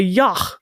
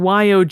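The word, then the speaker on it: yogh: and a yah oh I looked up yah that's how it's pronounced I thought it was I don't know something else well it is it's spelled with it's spelled y OG G so I thought it was yog or or Y maybe but it's y I think and it's s of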